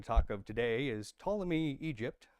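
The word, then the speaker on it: Ptolemy: Um the two main ones we're going to talk of today is Tommy Egypt. Starts with a P. I don't know why the P is silent. Uh Tommy Egypt in the south is one of them.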